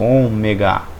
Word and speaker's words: ômega: o ômega o ômega ele tem um som do ó como com um acento circunflexo omega omega tá até aqui